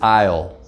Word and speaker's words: aisle: in the word and so the s in aisle is silent it's written down but you don't say it so this word is isle take a moment now